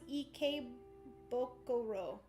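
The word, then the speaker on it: Ikebukuro: Oh, I guess they tell you down here how to pronounce it. So this one's Ikebokuro.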